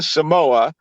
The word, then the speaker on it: Samoa: soccer team from American Samoa which they refer to as Samoa which I guess is the proper pronunciation but I you know I like to say Samoa the murer so I'm